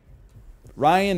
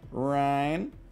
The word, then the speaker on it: Ryan: Ryan is not an easy one, because it's like, it's two syllables, but it's also like kind of one syllable. It's like 1.5 syllables, because you could either say Ryan, Daryl. I looked this woman in her optic stems and I said, Hannah, Banna, Bobanna. But you can also make it one syllable.